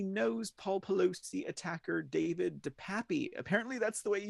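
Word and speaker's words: DePape: minors says he knows Paul Pelosi attacker David de Papi apparently that's the way he say his name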